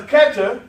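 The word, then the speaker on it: Kether: Because Keter is also spelled with an H there, but the H is silent. And the highest chakra is called what? The crown, and is also called Keter.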